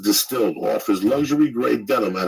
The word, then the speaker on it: DSTLD: or look t able dstld pronounced distilled offers luxury gray denim